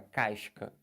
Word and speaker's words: casca: Mas se você tem um SC e depois tem um A, por exemplo, aí você pronuncia. Como, por exemplo, aqui, ó. Olha essa palavra, casca.